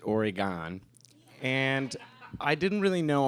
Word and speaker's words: Oregon: in the news recently oregon ohio or as we pronounce it oregon and i didn't really